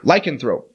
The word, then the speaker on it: lycanthrope: yeah I can throw lycanthrope I had the wrong cadence cadence strong emphasis on the law on the wrong syllable del Toro is a